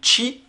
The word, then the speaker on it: Qi: depuis très longtemps notamment avec la technologie chip qui s'écrit qi avec les petits chargers certaines personnes me disaient qu'ils moi le premier jusqu'au temps que je sache que ça se disait qui donc l'écurie chargers qui